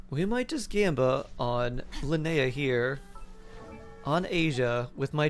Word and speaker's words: Linnea: So it's like Lin-Ia, or pronounced Linnea.